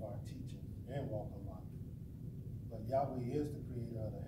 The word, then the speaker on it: Yahweh: that is there in who we call Yahweh this is the Hebrew pronunciation of his name that came out of